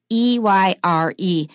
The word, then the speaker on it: Eyre: It's the last name here is spelled E-Y-R-E. And if I hadn't learned it before, I would have no idea how to pronounce it. It just sounds like air, the air we breathe.